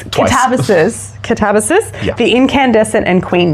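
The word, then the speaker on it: Katabasis: That's how you say it. We went and saw RF Kuang talk and it's Katavis.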